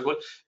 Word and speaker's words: call: dicevamo, anche qui vedete abbiamo la possibilità, no, di selezionare quelli long, si chiamano call, cal, è scritto cal, no? Ma si pronuncia call, oppure ci sono quelli